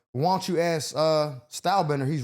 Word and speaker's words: Stylebender: But it is Style Bender. Stalbender. Yeah. Okay. So, he said that and uh and he tried to look Hold on. I said it. I said Starbender.